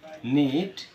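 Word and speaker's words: knit: অনুরূপভাবে নন নুন এখানেও কিন্তু আমাদের কেউ এর উচ্চারণ হয়নি পরিচিত নাইফ ছুরি নক করানাড়া নি হাটু নীল হাটু গেরে বসা নিট বোনা নক গোলাকার হাতল নাকল আঙ্গুলের গা প্রতিটি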